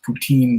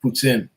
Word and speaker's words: poutine: had other varieties of puts in it's not pronounced poutine by the way it's pronounced puts in just to set that record straight yes i've